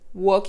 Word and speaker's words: walk: go working to go walk et vous remarquez que je ne prolonge pas le elle le verbe marché to work on se prononce ainsi sans prononcer le elle c'est comme parler tout